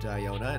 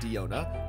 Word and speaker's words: Diona: Yes, it's supposed to be pronounced Diona, not Diona.